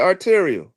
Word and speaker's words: arterial: You said it right, arterial.